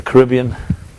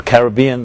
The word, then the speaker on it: Caribbean: One of these cruises they have in the Caribbean or Caribbean. They're both legitimate pronunciations, just for the record.